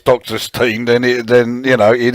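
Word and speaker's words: Dr. Stein: does to a degree when i see it written out it looks to me like it should be pronounced dr stein um but let's face it halloween or german they know their language are downside better than me so if they say it's doctor's team then then you know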